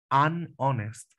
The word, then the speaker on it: honest: la que no tiene que tocar no a honest noten a honest está chocando para evitar ese choque chicos utilizamos bueno la otra la otra alternativa no and honest an honest y aquí podríamos decir que un hombre honesto